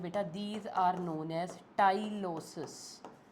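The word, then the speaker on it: tyloses: These are known as टाइलोसिस। टाइलोसिस। यह लिखा भी हुआ है यहां पे स्पेलिंग ना।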